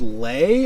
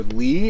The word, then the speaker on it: lei: In Romania, it's called lei or li. It's spelled LEI.